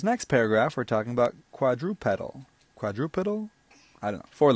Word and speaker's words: quadrupedal: different by the way the robot voice suggests quadrupedal is the correct way to pronounce that word so for thirty-one main